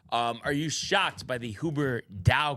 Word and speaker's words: Huberdeau: Are you shocked by the Huber Dow call by Tommy? Yeah, what did he say? He was comparing it to some other names. It's pronounced Huberdeau, just like Marleau.